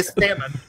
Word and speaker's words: salmon: Salmon. Just curious how you say salmon. It's a razor salmon. Yeah. No. Salmon. The L is silent.